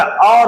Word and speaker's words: our: ये सही प्रोनाउंसिएशन नहीं है, आवर नहीं होता, और होता है और।